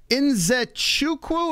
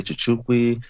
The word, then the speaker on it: Nzechukwu: Some people say Chichukwi, people say, but I constantly try to correct them.